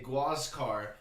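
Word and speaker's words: Huáscar: given to this guy whose name was huascar inca uh aka gwascar inca of the inca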